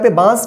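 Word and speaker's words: बाँस: आया ठीक है ना बांस हल्का सा नाक से इसका उच्चारण होगा ठीक है और मुंह के मदद से होगा ठीक है और इसके उच्चारण में जल्दी उच्चारण होगा ठीक है बास ठीक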